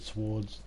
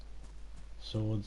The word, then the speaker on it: swords: hate when they put silent letters at the beginning of things or in the middle of things like the word swards swords if i put a w there you're not being not meant to pronounce it why put it there